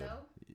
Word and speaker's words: Gadot: She doesn't Gahat have to Gadot. be. Oh, I don't know how to say her name. I wish I did because then I Gal would be. Gadot?